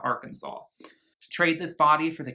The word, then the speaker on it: Arkansas: go back to arkansas she pronounced it our kansas not arkansas trade this body for